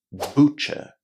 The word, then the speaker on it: butcher: In here, we say butcher. Butcher. So if you ever go to a shop which sells meat, it's not ber, it's butcher.